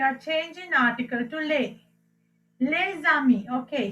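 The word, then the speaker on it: les amis: Okay, here I told you when the word is starting with the vowel, you pronounce last s's, right? So here lami and lami, there's no difference in the pronunciation here, and this becomes lezami, and this is again lezami.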